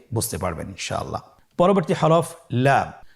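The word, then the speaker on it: لام: পরবর্তী হরফ লাম। লাম হরফটি উচ্চারণের ক্ষেত্রে অবশ্যই বারিক হবে এবং তিন আলিফ টেনে পড়তে হবে। আপনারা আমার সাথে বলুন। লাম।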